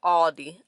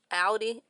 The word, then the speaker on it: Audi: ahead and head back inside into audi ah aldi audi audi audi audi i'd be saying it wrong